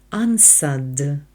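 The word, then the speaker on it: answered: відповів Антоніо anad anніо зверніть увагу в слові анса буква w не читається ансад і аса правильне дієслово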